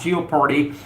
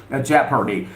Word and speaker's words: jeopardy: Well, when it comes to pronunciation, it's not jeopardy, jeopardy. What does jeopardy mean?